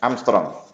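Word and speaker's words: ångström: Ini bacanya A derajat, ini membacanya Armstrong.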